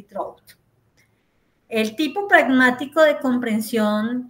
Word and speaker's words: Trout: ellos en este caso trout o se lee en español trout pero se pronuncia en inglés trout eh encontramos una primera